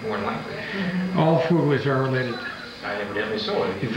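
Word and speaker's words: Fuglei: All Fuglies are related. Evidently so. If it's spelled F-U-G-L-I-E or F-U-G-L-E-I.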